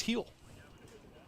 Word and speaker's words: Gil: pitchers on the mound Gil I've been told it's pronounced heel well you know when I don't care it's Gil heel hey same rule applies